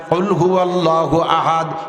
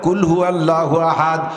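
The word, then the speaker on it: قل هو الله أحد: থেকে উচ্চারণ সঠিক না হইলে তরজমা পালটা যায় কুলহু আল্লাহু আহাদ আল্লাহু আহাদ কয়ে উচ্চারণ হবে বল সেই আল্লাহ একক যদি কাপ দিয়ে বলেন কুলহু আল্লাহু আহাদ তরজমা হবে খাও সেই আল্লাহকে যে আল্লাহ একা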